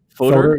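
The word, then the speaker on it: Foeder: The Fooder series, I think is the right way to say that. Fodder? Fodder, yep. It's the beer, whatever they put beer in the big casks.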